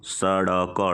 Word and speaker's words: सड़क: और दूसरा है डमरू स ड क ड स ड क जब बिंदा नीचे आ जा रहा है तो उच्चारण में अंतर आ जा रहा है सड़क डमरू और ढ ढक्कन